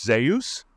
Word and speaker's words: Zeus: got to be called Zeus which to me because I believe that Zeus is just another Avatar of God I like to pronounce zus because zus and Deus are actually close homonyms and I believe you